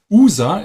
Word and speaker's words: Usa: And we have a small creek, and this is called User. The writing is USA, but the name is User in German pronunciation, USA.